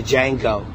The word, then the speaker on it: Django: He said my name is Django. The J is silent. The D is silent. Django, yeah.